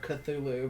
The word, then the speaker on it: Cthulhu: Cthulhu was um and how to say the word cut through Lou because it doesn't look like a word that you should say um so the first